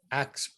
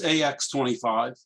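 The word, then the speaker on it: AX.25: is used by aprs acts i guess it's pronounced acts .25 just ax25 ax25 well i call it axe and i'm about to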